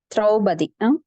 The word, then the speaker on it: திரௌபதி: திரௌபதி pronounce பண்ணுங்க மாதாஜி. திரௌபதி.